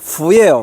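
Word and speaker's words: 福: 이 박쥐가 우리가 복복자를 보면은요 한자로 복복자가 중국어로 fu예요. 발음이 F 발음 fu인데 박쥐가 간자치로 쓰면은 그것도 똑같이 fu예요. 발음이.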